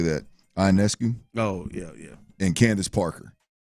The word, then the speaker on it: Ionescu: Ionescu.